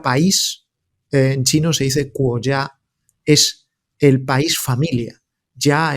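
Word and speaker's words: 国家: que la palabra país en chino se dice cuya es el país familia Ya es familia y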